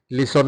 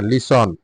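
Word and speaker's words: listen: সি দেখা C Sachin লিসন শোনা লিসন লিসন লিসন লিসন শোনা লিসন লিসন লিসন লিসন শোনা লিসন লিসন লিসন এটা কিন্তু লিসেন হবে না লিসন আমি বাংলায় উচ্চারণ গুলি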